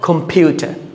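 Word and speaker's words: computer: দিতে হবে স্ট্রেস প্রদান করতে হবে তাহলে কিভাবে উচ্চারণ করব কম্পিউটার কম্পিউটার আমরা আরেকটা সহজ পদ্ধতিতে খুব সহজে আমরা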